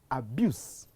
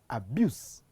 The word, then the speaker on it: abuse: So the change of the final sound from s to z in some of the words, again, it makes a word shift from one word class to another word class.